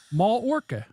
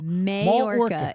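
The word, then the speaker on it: Mallorca: Ma Ma Where's Why do they have L's in there? It's Mall m a l l o r Mall orca. In Mall orca, Spain. There we go. Majorca is how you pronounce it. But Oh, so both L's are silent?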